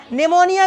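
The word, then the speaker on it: pneumonia: निमोनिया की meaning P से चालू होती है। पी साइलेंट रहता है इसमें।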